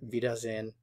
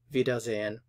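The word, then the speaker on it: Wiedersehen: and you'll just hear vidas in vidas in so note that the W is like an English V the S here is like a z of V doesn't work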